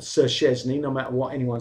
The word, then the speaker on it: Szczesny: should just, you know, take a bit of time to try and get that sound. Szczesny. That is how you pronounce Szczesny. Not the way we're hearing it. Not Sir Szczesny.